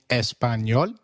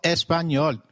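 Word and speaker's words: español: ah as in father did you notice the letter enye in espanol this letter is peculiar to spanish it is pronounced as knee like in canyon so can you try saying espanol it is called espanol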